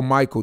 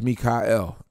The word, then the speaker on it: Michael: have to change it you just pronounce it different Oh Michael no my name is Mika l that's that's what Michael